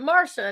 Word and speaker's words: Marcia: I'm used to My mom's like, "We're gonna spell it Marcia, but we're going to pronounce it Marsha and make everyone confused."